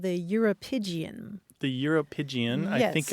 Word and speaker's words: uropygium: It's called the Europygian. The Europygian. Yes. I think I hear similarities to calipigian in there. You do. You do. Let me spell it for you. Okay. Uropygium.